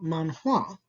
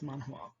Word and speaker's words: manhua: the same word just it's pronounced a little differently in chinese than it is in japanese it's manhua and this is what